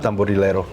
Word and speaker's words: Tamborilero: So, good job, Tambburo.